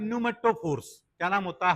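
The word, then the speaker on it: pneumatophores: और इन रूट्स का नाम होता है न्यूमेटोफोर्स। क्या नाम होता है? पी को साइलेंट रख दो।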